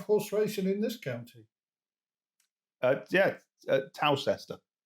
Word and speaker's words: Towcester: Towcester. Toaster. Sorry? Toaster. I think you'll find that Toaster is spelled Toaster and Towcester is spelled Towcester.